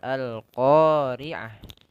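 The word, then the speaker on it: القارعة: Yang pertama perlu diperhatikan di situ lafal Al-Qari'ah.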